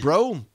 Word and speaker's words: Breaux: Moving on to Lafayette, Louisiana, and Todd Bro. And I love calling him Todd Bro, even though it's spelled Breaux.